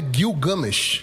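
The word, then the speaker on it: Gilgamesh: a história de eh gilgamech gilgamech gilgames ou gilgamech eh o a pronúncia correta É Gil gamesh é Gil games enfim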